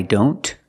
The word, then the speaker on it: don't: Here the T is between consonants, so we don't pronounce it.